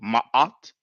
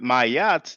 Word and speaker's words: Ma'at: So Ma'at, you see. But if it's difficult, and that could be understandable, if you cannot pronounce Ma'at, then just say Ma'at, like a elongated A sound. But Mayat, there's no Y, it doesn't sound good.